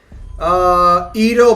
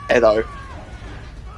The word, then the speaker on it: Edo: Ito Madara versus Jubito. Oh, I hate when people do that. Just say reanimation. Ito Madara. You're also still pronouncing that wrong if you'll use that term. It's Edo.